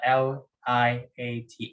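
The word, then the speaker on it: LIATE: going to use the l i a t e or liat yeah that's the way i pronounce it so log inverse trig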